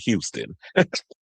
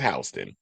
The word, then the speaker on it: Houston: I hope you wasn't pronouncing it Houston. It's Hston.